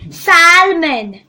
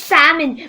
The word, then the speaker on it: salmon: the you don't say salmon it is salmon because the l is silent many people say automobile